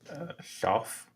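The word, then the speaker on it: Shough: Schaff. What? Schaff. Schaff? Yeah. But it's a GH. Yeah, that's kind of sometimes makes an F sound.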